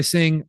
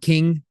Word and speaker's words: Cing: Developed by Sing or King, depending on how you pronounce it, CING, published by Nintendo directly.